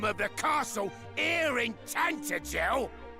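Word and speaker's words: Tantegel: Well, they only keep it in the dining ROOM OF THE CASTLE HERE IN TANTIGEL. TANTIGEL. That's how you pronounce this t this town.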